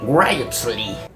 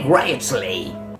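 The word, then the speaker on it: Wriothesley: tuvo el mecenazgo de Henry ryley así se pronuncia Henry ryley o algo así tercer Conde de Southampton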